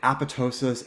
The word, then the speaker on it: apoptosis: survive we need some cells to die so apoptosis that's how we pronounce it apoptosis is programmed cell death or cell suicide and